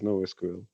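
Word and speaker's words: NoSQL: knows what it is but no sql is no sql yeah i got you okay that makes sense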